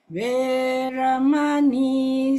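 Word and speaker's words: veramaṇī: So you drag the E and the I.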